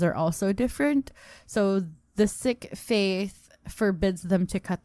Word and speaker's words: Sikh: were taught that it's sick so i was a bit shocked that people pronounce it as seek but it's not with double e yeah it's sick and it's sikhism and